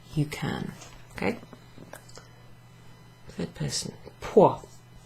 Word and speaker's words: può: Può. There's a little accent down over that O, which makes it very clipped.